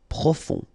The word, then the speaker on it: profond: Final D not pronounced. O-N, on. Profond.